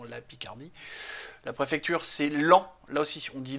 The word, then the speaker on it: Laon: avant c'était dans la Picardie la préfecture c'est lent là aussi on dit LAN on ne dit pas Laon de la même manière qu'on dit un pan